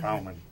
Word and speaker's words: Baumann: Is that how you pronounce it? Baumann.